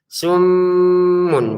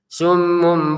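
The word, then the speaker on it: صم: Perhatikan di sini di mim ininya mim tasdidnya ini kita tahan dengungannya summun begitu.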